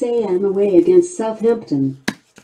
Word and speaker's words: Southampton: away against Southampton it's pronounced Southampton not Southampton Alexa 135 of 199 come on